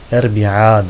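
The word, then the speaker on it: أربعاء: Ahad, İsneyn, Sülese, sonuncu hemzeyi okumazlar bile. Erbi'a der, Erbi'a, i diye söylemezler.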